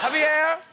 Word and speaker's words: Javier: Javier! Pronounced correctly?